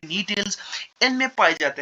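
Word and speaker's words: Gnetales: यहाँ पे आप जो यहाँ पे देख सकते हैं, यहाँ पे जी साइलेंट रहते हैं, इनको हम पढ़ते हैं नी टेल्स।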